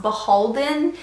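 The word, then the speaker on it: BHLDN: many people told me that it was actually pronounced beholden even though it's like the initials BH l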